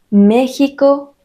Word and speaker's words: México: Tuxpan Atlixco Texcoco y algunos topónimos que no siguen esta regla Ya que se pronuncian con el sonido de la J son México Texas Oaxaca recuerdas que los españoles